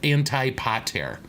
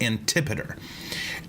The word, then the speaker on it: Antipater: you look it up his name looks like it's it's spelled anti-pot tear okay but it's antipater and this is arguably